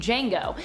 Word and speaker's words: Django: tarantino film django unchained where jango instead is spelled with the silent d also i feel like